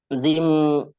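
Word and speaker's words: جيم: এই যে জিম, শিন, ইয়া, এই অক্ষর তিনটার কি উচ্চারণটা কোথা থেকে? এটা আসলে আমি করতে পারি নাই। জিহ্বার মাঝখান, মধ্যখান, তারপর আবার উপরে তালুর সঙ্গে লাগিয়ে, ঠিক আছে ভাই?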